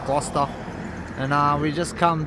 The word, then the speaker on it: Gloucester: welcome to gler so I looked it up and you do pronounce it gler and uh we just